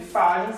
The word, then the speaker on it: Fajans: Eu escrevo Fajans, mas a pronúncia correta é Fajans.